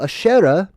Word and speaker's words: Asherah: is it right well asherah is one of the ways that you pronounce this queen of heaven